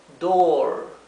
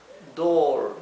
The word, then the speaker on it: door: la puerta door aquí lo escribí con la doble o en verde para que sepan que se pronuncia larga la o door door si tenemos the window